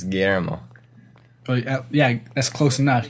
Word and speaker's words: Guillermo: It's Guillermo. I know how to say my own name, okay? It's Guillermo.